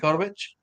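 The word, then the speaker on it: Kotowich: Kotovich. The W is pronounced as a V, I believe, is what he told me before.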